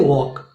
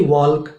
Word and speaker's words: walk: जैसे कि हम लोग देखते हैं कि WALK, अब इसे कहते हैं वॉक, लेकिन WALK हमारे हिसाब से होना चाहिए वॉल्क।